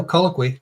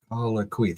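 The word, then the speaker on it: colloquy: No, colloqui. That's it. Yeah, colloqui. Three syllables.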